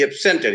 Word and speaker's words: absent: conducted the meeting smoothly so there because of the because they are used as verbs they take the accent in the second syllables if they are used as nouns or adjectives they take